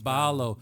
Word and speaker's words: Ballo: Balo. Am I pronouncing your last name correctly? Yes. Balo.